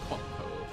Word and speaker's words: Cotco: I think it's Cotco. Like Costco.